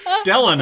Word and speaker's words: Delano: So it's Delano. Delano. Delano listening Like Roosevelt.